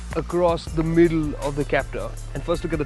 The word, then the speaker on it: Captur: Yes, we know this is the new Renault Captur. No, it's pronounced Captur.